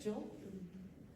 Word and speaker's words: gill: How do you say it, Jill? It's 4 ounces.